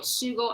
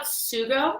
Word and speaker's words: sugo: Sugo? Yeah. Do you know how to spell it? SUGO. Okay, so it just has some like. It's like jugo, Mhm. which is juice, And sugo.